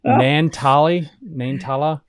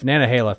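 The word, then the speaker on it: Nantahala: My God, Nantala, whatever. I need hooked on phonics for this stuff. Nanahala, thank you.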